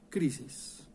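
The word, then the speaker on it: κρίσις: tratar de explicar esto condenación en griego se pronuncia crisis la crisis es la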